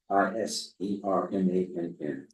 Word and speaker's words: Isermann: Jim Iserman, Isermann, and he does pronounce it Iserman.